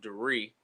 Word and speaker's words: Dari: Everybody calls me Dari. It's actually pronounced Dari, but I'm so used to hearing it. But yeah, so I'm Dari.